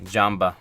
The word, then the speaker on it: Jambo: Is that how you pronounce it? Jamba? Jambo. The Jambo brand. So we got this butter oil. It is... Jambo. Jambo. It's Jambo.